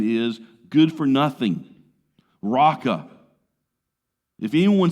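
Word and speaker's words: Raca: does doesn't it I I can't do it with the true gutural sounds of Hebrew but it almost sounds like you're about to hakal Lugi in somebody's face Rocka and in Jesus's day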